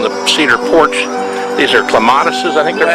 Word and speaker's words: clematis: These are clematises, I think they're called. Or? Yeah, well, you know, oftentimes we say clematis, although I guess many people would say that the proper way to pronounce it is clematis.